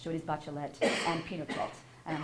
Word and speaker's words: Bachelet: explain that in Spanish these what look like French names and they are originally French names but they are pronounced in Spanish so it is bachelet and Pelt and I'm